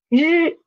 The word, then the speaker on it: 日: the next one is 日, 日, 日. For 日, roll up your tongue a little bit and then try to vibrate your vocal cord here. Vibrate it and try to pronounce this word 日, 日, 日.